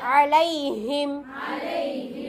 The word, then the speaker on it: عليهم: வ அர்சல அலைஹிம், ஐன் நல்லா உச்சரிக்கணும். அலைஹிம், இந்த ஐனுடைய இது என்னன்னா நடுவுல வந்தா கூட ஐன் வந்துடும்.